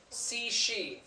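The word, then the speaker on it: Cixi: had bailed exiled ored C she that's how that's pronounced okay CI is in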